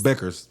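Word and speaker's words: Bueckers: Paige I'm How do you pronounce her last name? Paige Beckers. Beckers.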